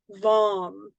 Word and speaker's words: vam: Okay, and so even though they look like lamb, vam, ram, yam, ham, and om, it's pronounced like om. Okay, so lum, vom, ram, right, like that.